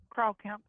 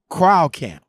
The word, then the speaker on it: Kreilkamp: Again, how do you pronounce it again? Kreilkamp. Kreilkamp.